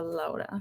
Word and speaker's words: Laura: hi thank you and so my name's actually pronounced laura um others might call me laura but i try to stick to lola so thank you yeah of course yeah so